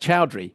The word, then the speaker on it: Choudhry: Well, joining us now is Chri. He Well, well, he got that wrong to start with because it's pronounced Chowry, but let's carry on.